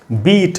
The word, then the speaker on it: beat: उसके बाद दोस्तों बीट और इससे मिलते जुलते वर्ड्स, तो ये है BEAT, बीट। इसमें बड़ी ई का साउंड है, तो यहाँ पर आई है, उसके सामने 2 डॉट्स हैं, बड़ी ई, बीट।